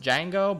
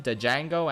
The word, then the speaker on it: Django: his name is dejango it's probably pronounced Django but I'm calling him dejango anyway because it's fun to say the giangle is absolutely